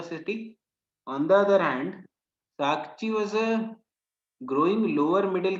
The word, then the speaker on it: Sakchi: So that is Sakchi, not Sakshi.